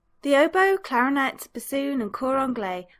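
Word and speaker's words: hautbois: The only ones which might seem odd are fagotto or fagot, and the French word for oboe, which looks like haut boys, is actually pronounced oboe.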